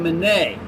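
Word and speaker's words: Minié: of lead designed by a guy with the last name of monet but since we're americans and we win wars we call it mini that's just when that we pronounce that so dr gatlin's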